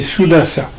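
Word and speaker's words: Sudās: un rôle important c'est souasa et souasa qu'on dit qu'on appelle souas parce que de nos jours on prononce plus le le dernier a des des mots des mots de sanscrit euh souas c'est lui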